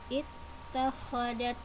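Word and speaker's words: اتخذت: Kemudian dilanjut ittakhadat. Tetapi apabila dibaca wasol maka cara bacanya adalah disambungkan langsung ke tak. Jadi hamzahnya tidak dibaca, langsung ke tak tasydid. Al-Ankabut ittakhadat, seperti itu.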